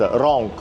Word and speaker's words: Rinck: Die Firma ist Rinck - buchstabiert "Rinck," aber ausgesprochen wird es "Rahnk" - es ist eine französische Marke.